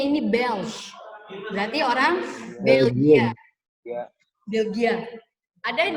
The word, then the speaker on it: belge: Bacanya ini Belge.